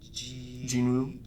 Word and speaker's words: Jinwoo: Jinwoo.